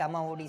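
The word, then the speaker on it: Amma Vodi: Yeah, what is that Amma OD scheme? Am I pronouncing it rightly?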